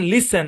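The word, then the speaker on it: listen: হবে আচ্ছা তারপর দেখেন শব্দের শব্দের শেষে এসটি এন থাকলে টি সাইলেন্ট মানে এস আর কি যেমন লিসেন নট লিসেন ফ্যাসেন ক্রিসেন বুঝছেন তারপরে দেখেন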